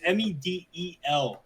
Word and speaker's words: Medel: No, it's Medel. I don't know why it's spelled that way.